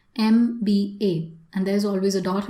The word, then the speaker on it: MBA: So you take the sound, you pronounce each word, each letter separately. MBA.